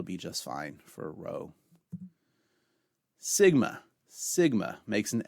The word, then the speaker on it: Rho: call it P Rho Rho makes an R sound as in the word room or an RH sound in rhombus however you pronounce eros